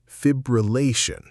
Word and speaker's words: fibrillation: Ventricular fibrillation. Did you stress them correctly? In this video, we are going through the most mispronounced words in emergency medicine, the words that